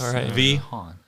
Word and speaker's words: Vehaun: It could just be V dash. Exactly. So now we know. It's just Vehaun. Anyway, thank you, Mark Vehaun, for being our.